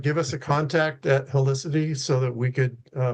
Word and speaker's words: Helicity: Helicity and it's spelled like a helix.